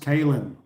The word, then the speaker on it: Kayn: Simon and regulars hey kayn pronounced kin uh i e another